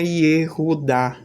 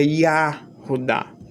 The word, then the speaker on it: Yehudá: Isso serve também para o pessoal que, inclusive essa mesma pessoa e outras pessoas, gostam de dizer que não é Yehudá. Gostam de dizer que é Yahudá.